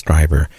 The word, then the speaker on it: Strieber: Yeah, and I said his last name wrong. It's Strieber. And it's... So Strieber, yeah, I'll get it right before he's on.